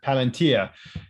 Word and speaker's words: Palantir: is uh again i hope i get this pronunciation correct uh plant paladin volunteer palantir yeah thank you um so they're um allegedly